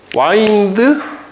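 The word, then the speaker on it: wind: 그다음에 요것도 이제 이거는 자동사는 와인드 와운드 와운드라고 발음하고 이거는 운드 운디드 운디드야.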